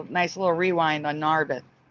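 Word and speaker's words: Narberth: nice little rewind on narith that's how it's pronounced for me narth not narbeth narth Pennsylvania that is crazy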